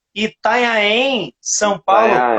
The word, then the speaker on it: Itanhaém: Conexão em BR, Rio Grande do Sul e Itanhaém, São Paulo. Itanhaém. Pronunciei certo, João? Itanhaém, Pronunciei é isso certo?